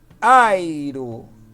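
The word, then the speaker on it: αἴρω: A palavra grega airo. Airo. Como você usa na palavra portuguesa aipim, certo?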